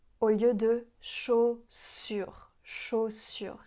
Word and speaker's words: chaussures: Ce qu'elle pourrait améliorer, par exemple, c'est qu'elle dit chaussure au lieu de chaussure. Chaussure. Rappelez-vous que la lettre U, ça fait le son U.